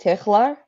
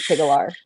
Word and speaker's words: Tigchelaar: yeah so it's tikla I started it's the it's the it's it's the Dutch pronunciation like if you really want to start going for like the guttural kind of sound but we just like